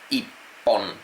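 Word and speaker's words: 一本: Ichón se convierte en ipon. Cuando estamos hablando de uno es i pon.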